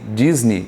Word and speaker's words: Disney: aqui para a Disney Disney só não sei mas nós falamos Disney Disney então a sílaba tônica é no Nei EA vogal é o